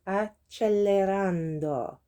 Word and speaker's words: accelerando: If there's a double C in Italian, the way it's pronounced depends on the letter that comes after the C's. So 2 C's on its own would be like a K sound, or 1 C on its own would be like a hard C. But if it's followed by an E, it becomes a c'è.